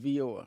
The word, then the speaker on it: VIOR: Like Dior, but Vior with a V.